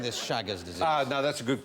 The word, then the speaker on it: Chagas: How are you spelling this Chagas disease? No, that's a good question. Yeah, how you spell it?